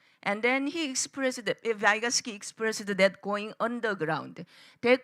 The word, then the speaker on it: Vygotsky: I summoned Vygotsky, or in English pronunciation, Vygotsky.